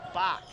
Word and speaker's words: Bach: I believe I just heard the PA announcer call him Bach, and that is my fault for mispronouncing his name.